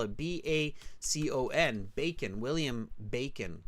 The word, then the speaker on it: Bacon: agrees I agree too it's bacon like the breakfast food and they spell it b-a-c-o-n bacon William Bacon like